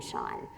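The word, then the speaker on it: Chaon: One of my very favorite novelists is Dan Shawn, who I really recommend reading his work. That last name is spelt like chaos, but with an N instead of an S.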